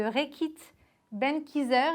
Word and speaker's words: Reckitt Benckiser: Bonjour, alors vous êtes directeur marketing France, hygiène et home de Reckitt Benckiser. Est-ce que j'ai bien prononcé?